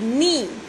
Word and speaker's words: knee: KNEE, नी। के जो है इसमें साइलेंट है, के हम नहीं पढ़ेंगे इसमें, ठीक है।